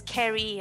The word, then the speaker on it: Ceri: my red pen out, mark out that hard C so they get it as Ceri, and give them the whole little spiel story about how it's Welsh, and English-speaking people usually don't know how to pronounce it either.